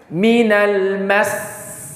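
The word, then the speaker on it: مِنَ الْمَسِّ: Maka untuk menjaga huruf, memastikan hurufnya itu ada dua, maka ketika dia waqaf dihentak, ditekan. Maka cara bacanya minal mas.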